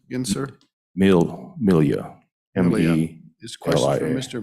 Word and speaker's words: Melia: Milia. M-E-L-I-A. This question from Mr. Milia. Milia. It's like Amelia Earhart, just no A on the front.